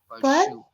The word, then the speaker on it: pursue: No, you are still saying sure. It should be sir. Okay, there is a difference. Pursue.